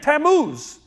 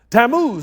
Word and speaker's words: Tammuz: And then there's the whole thing of Tammuz. That's a Hebrew word. Tammuz or Tammuz, there's different ways to pronounce it.